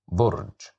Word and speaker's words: برج: Okay, so here we have the word burj, which starts with the letter ba, but this time we have the dhamma, so that's why we pronounce it as bu, burj.